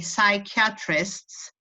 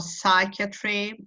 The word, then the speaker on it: psychiatry: psyche you don't the the P is silent so you say psychiatrists or psychiatry or psychology etc okay I knew